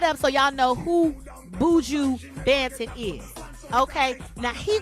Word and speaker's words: Buju: Is it Buju or Baju? It's Buju?